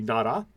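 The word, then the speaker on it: 나라: This is like an ah. And this is pronounced T. So this would be nara. And that's what this is pronounced in Korean.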